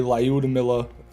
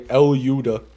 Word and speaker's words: Lyuda: a YouTube short and I say Lyuda, I always get comments that are like, why does he say it wrong? It's not Lyuda. And I'm just like, that's what it is, man. How do they say it? Numerous ways. Some people say Lyudamila. Some people say Elyuda.